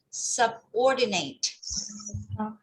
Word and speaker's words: subordinate: Or like this one, subordinate. But because you separated sub and ordinate, so you have to put it together and faster.